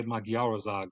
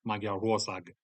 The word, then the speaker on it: Magyarország: Yes, you're supposed to emphasize the third syllable, I think. I used to say Magyarország, but apparently it's Magyarország.